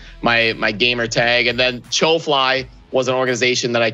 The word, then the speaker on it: Chofly: just shortened it to cho fly but uh yeah that's the story behind show fly and chosen so it's your fly it's not chuffly i was just pronouncing it russian and ukrainian accents yeah that's right why